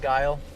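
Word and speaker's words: Geil: It's G-E-I-L, but it's pronounced kind of like that, though, huh? Like Guile.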